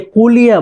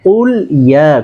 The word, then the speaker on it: قل يا: সেটা হচ্ছে, এখানে অনেকে কুলিয়া বলে, হ্যাঁ কুলিয়া না, কুল ইয়া।